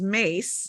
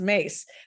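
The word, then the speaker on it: Myss: Nancy e yes and her last name is Mace and it's spelled m-y-s-s okay currently mess okay it's mace this is the thing I've been through years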